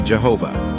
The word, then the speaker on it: Jehovah: The word Lord in Genesis 18, 1 is derived from the word Yehovah, the pronunciation of which is usually Jehovah.